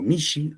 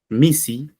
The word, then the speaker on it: misi: En este caso, vamos a hacer una pequeña corrección. Misi, ya que estamos desarrollando nosotros el quechua sureño, ¿no? Entonces, en el quechua sureño le decimos Misi, solamente con la SB.